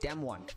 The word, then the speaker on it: DAMWON: Yep, Damwon.